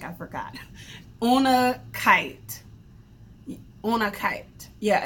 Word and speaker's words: unakite: And I looked up how to pronounce exactly what this stone is. It's called, I feel like I forgot, unakite.